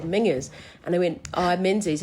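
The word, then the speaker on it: Menzies: And he said, "Mingers." And I went, "Oh, menses." And he goes, "No, it's pronounced mingers."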